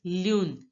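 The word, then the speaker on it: lune: in French Yoon Yoon so so moon is pronounced as Lun LUN now listen to the pronunciation of the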